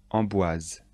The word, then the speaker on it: Amboise: château de blois chenonceau le château de chenonceau amboise le château d'amboise le soir dans certains châteaux